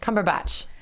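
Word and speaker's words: Cumberbatch: __ ] yeah thank you cool Benedict batch cumber batch Benedict batch visits Star Wars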